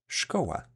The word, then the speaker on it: szkoła: It is pronounced as sh, and an example of this digraph being used in a word is szkoła, which means school in English.